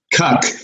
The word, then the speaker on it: Koch: So it's Koch or. How do you pronounce that? Koch. Yeah. Koch. Okay. So because different people pronounce it different ways. It's Koch. Yeah.